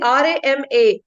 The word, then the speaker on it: Rama: also, you will see R-A-M-A. They don't say R-A-M. Everywhere you see R-A-M-A. So Rama. So if you're focusing on that pronunciation, then, when you're focusing on, am I saying Ram by mistake, by practice?